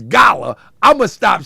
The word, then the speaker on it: Gullah: But look, so it's Gullah. I said it right now, Gullah.